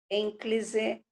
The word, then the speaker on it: ênclise: Mas o correto é próclise, ênclise e mesóclise.